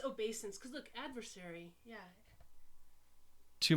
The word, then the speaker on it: obeisance: or something it is it's obeyance maybe no it's obeisance cause look adversary yeah